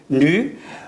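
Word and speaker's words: ν: Donc chaque onde est caractérisée par sa fréquence n au nu, ce symbole est prononcé nu, et une période t.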